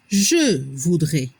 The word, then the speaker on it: je voudrais: La prononciación je voudrais. A y S se pronuncia como la E.